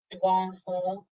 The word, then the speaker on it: Dawana Hall: Yes, it's pronounced Dwan Hall.